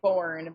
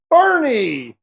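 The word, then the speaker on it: Boerne: I would say born, but I guess it's not. Bourne is not correct. You Bo. Nope. Also incorrect. Boernie. Boernie. Hold. What? What did you just say? Whoa, whoa, whoa. What did you say? I said Boernie. Oh, no. I thought she said I think Hang on. Do we have anybody else in here? Anybody? Anybody? Oh, Cine. Bernie. Bernie. Oh, wow.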